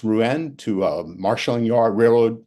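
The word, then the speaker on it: Rouen: he flies it to I believe it's ruen pronounced ruen to a marshalling yard railroad railroad yards uh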